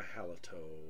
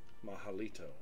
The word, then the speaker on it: Mahalito: lead okay on these guys and I'm a haloto from Merlin mahalito I've correct myself mahalito yeah so Robert Woodhead was nice enough too